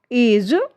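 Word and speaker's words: edge: इसके रूल्स क्या कहते हैं देखिए, जब जी से ठीक पहले डी आता है तो डी का जो प्रोनाउंस है वो नहीं किया जाता है, डी का उच्चारण नहीं किया जाता है। एग्जाम्पल देखिए, ब्रिज, एज, नॉलेज, जज।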